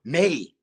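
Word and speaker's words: mãe: In Cape Verdean or Portuguese, a mother is mine, but you write it MAE, right? So the pronunciation in English is still May, right?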